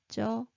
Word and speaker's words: 쩔어: So do you remember this is a silent one? So bottom consonant moves over. So how would you pronounce it? Can I hear it? 쩔어, 쩔어.